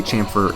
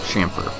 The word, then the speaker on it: chamfer: And yes, I did say chamfer and chamfer. So whichever way you like to say it, now you can comment that I said it wrong.